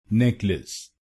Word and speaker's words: necklace: तो बनेगा नेकलेस, नेकलेस, नेक लिस, नेक लिस, नेकलेस, नेकलेस। और इस शब्द में आपको पहले शब्दांश पर यानी NECK पर जोर डालना है, नेकलेस, नेकलेस।